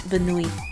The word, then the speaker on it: Bunny: Benui when they spell it N-U-N-N-Y? Benui? It's Benui.